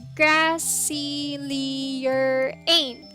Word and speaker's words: Grassylierain: the surface level so my streamer name is grassley lyraene that's pronounced as grassy leerane grassley urane but you